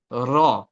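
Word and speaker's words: راء: Next ওয়ার্ডটা হচ্ছে র। তো এটাকে হচ্ছে সিম্পল মনে হচ্ছে, বাট এটার আহ উচ্চারণটা একটু অন্যরকম।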